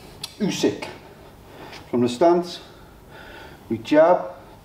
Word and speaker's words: Usyk: Someone told me off for pronouncing his name wrong. So I want to make sure I get it right. Usyk.